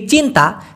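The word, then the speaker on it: cinta: দেই নাই আমি ভিডিওতে সি আই এন টি এ যেটার উচ্চারণ হয় চরী ন ত আকার কারণ সি টাকে ওরা চ উচ্চারণ করে এই চিন্তা চিন্তা মানে কি আমাদের বাংলা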